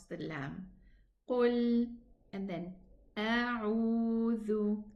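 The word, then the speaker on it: أعوذ: 2 counts for the waw because it's harf mad and it's a. A'udhu. Get your tongue, the tip of the tongue outside, touch the edge of the upper 2 teeth to pronounce the letter dhal. Otherwise, it's going to be pronounced za. A'udhu, and this is not correct.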